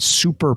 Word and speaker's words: Souper: created a company called super products and it's spelled sou P er which is cool bring